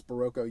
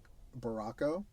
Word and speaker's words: Baroco: Okay, so I I mispronounced the yarn and I think it was Baroco yarn. I was calling it something else, Barco.